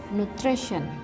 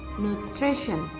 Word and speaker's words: nutrition: And the second word is nutrition. The phonetic sound is nutrition. Nutrition. The stress is located on the second syllable and the meaning of this word is nutrisi.